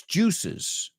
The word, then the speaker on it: juices: In plural, it's juices. Juices. So 1 juice, 2 juices. Oh, when the meat starts to release its juices, ¿ves cómo cambia 2 sílabas?